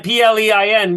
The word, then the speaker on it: plein: Plan, Plein, because if it's plan is means map.